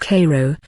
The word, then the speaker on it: Cairo: on the road to Cairo pronounced Cairo Illinois picking up a car